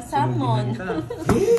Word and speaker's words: salmon: Ah silent L pala. Salmon.